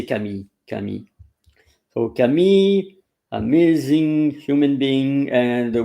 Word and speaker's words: Camille: And for this time, I chose Camille Jones. I don't know if it's the way you pronounce the first name in English, because in French we say Camille, Camille.